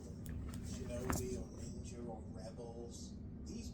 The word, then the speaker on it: shinobi: It's pronounced shinobi.